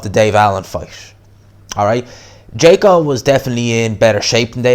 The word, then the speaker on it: Djeko: Alright, Tony Yoka stops Djeko, that's how you pronounce the guy's name, in the 12th round.